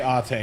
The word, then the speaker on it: Ate: Well, the katakana says Ate, so I'm gonna say Ate is the correct way to say it.